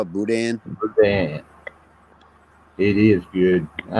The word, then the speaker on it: boudin: The N is silent. Boudin instead of boudin, or boudin.